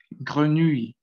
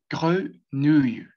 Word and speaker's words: grenouille: Y esta se dice grenouille, grenouille, grenouille. Entonces, esa E va a sonar un poquito, como les comentaba, cerrada, como decir cuando ustedes